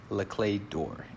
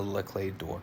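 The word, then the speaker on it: Les Clefs d'Or: me just say that I know I'm not pronouncing this the proper French way this is just my Texan way of trying to say this very funny looking word but I'm pronouncing it as Le clay door and what this means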